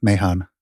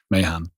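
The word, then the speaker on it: Mahon: into Dennis yeah it's m-a-h-o-n Mahan oh yeah okay oh yeah I would have thought it's like man I would have I mean that's American pronunciation isn't it Mayhan yeah so Dennis doesn't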